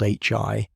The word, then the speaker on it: HI: Neutral hydrogen, often called Hi, and pronounced as the individual letters, is one of the main gaseous ingredients from which future generations of stars can ultimately form.